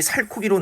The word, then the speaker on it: 살코기: 살고기 이렇게 적어야 되는데 실제 발음이 살코기로 나기 때문에 얘는 뭐예요 소리대로 적은게 맞는 거죠 그죠 그다음에 보세요 2번도